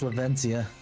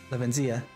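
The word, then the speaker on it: Levincia: million volt Skyline that's lavencia lavenzia uh lavencia I'm trying to pronounce it with his proper Spanish accent the marks of Pokemon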